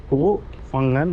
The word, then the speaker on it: Koh Phangan: কে ও এইচ কো ফাঙ্গান এরমভাবে উচ্চারণ হয়।